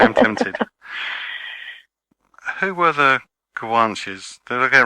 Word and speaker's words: Guanches: Who were the Kwanches? Did I get it right that time? Yes, perfect, perfect pronunciation.